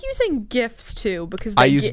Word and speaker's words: GIF: I like using GIFs too because I they use GIFs so That's much.